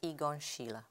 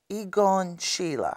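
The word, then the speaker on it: Egon Schiele: have had from him I know now you're pronouncing his name as igon Sheila igon Sheila yeah cuz say igon Sheila yeah okay just so people you know um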